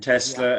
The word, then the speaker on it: Tesla: Tesla, as in Tesla cars, Tesla. T-E-L-A, Tesla.